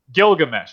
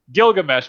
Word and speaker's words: Gilgamesh: possible Inspirations of the Epic of gigg because Gilgamesh why do I keep pronouncing that Gilgamesh because I think it'd be an interesting video